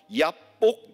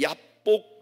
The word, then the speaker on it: 얍복: 얍복 이라는 거를 히브리 원어에 좀 더 가깝게 발음하면 야복이에요.